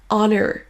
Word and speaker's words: honor: Il existe malgré tout quelques rares exceptions, comme les mots hour, honest, honor. Beaucoup de Français vont oublier